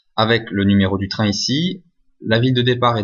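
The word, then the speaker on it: 一: Donc 1 c'est I en chinois, et ça s'écrit avec une barre, et 2 ça se dit R, et ça se traduit avec 2 barres.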